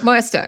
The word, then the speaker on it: Moesta: Oh, Bob Moesta, yeah. Moesta, right?